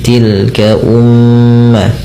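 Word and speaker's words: تلك أمة: Pada lafal mim yang berharakat tasydid, ini cara bacanya kita perlu menahan bunyi suara nya sepanjang 2 harokat, teman. Karena pada lafal ini terdapat bacaan gunnah, yaitu dengan menahan bunyi suaranya dan memasukkan kerongga hidung. Maka tilka umma tidak hanya sekedar dibaca dengan tilka ummatun gitu ya, tapi ditahan dulu.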